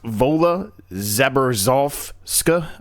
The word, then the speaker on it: Wola Zabierzo: I think it's pronounced Vola Zeberska, I think is how it's actually pronounced.